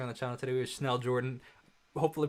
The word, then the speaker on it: Schnell Jordan: a pleasure um hi everyone my name is schnell jordan so you pronounce it correctly don't worry um i am